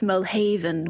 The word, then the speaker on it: Mirlhaven: I think it's Mirlhaven, with the emphasis on the second syllable, and then back and forth and trying it different ways.